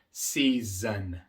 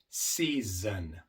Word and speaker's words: season: Season. Así que podemos ver un ejemplo aquí de una palabra en donde la S se pronuncia de las 2 formas. Season.